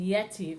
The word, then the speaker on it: Yetiv: And Yetiv, if you can hear it with my pronunciation, has the accent at the beginning, where the majority of tropes have their accents at the end, which is where most accents in Hebrew occur.